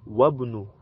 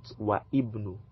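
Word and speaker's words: وابن: So it will now be Wabnu and not Wa Ibnu. We'll remove the Alif because it is Hamzatul Wasl.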